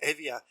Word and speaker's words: Hevia: I mean, I was introduced a number of years ago to a musician called Evia. It's spelled Hevia.